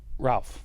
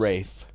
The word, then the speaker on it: Ralph: Rafe in this. Fiennes, and you don't pronounce CL. Ralph. It's Fiennes. Rafe.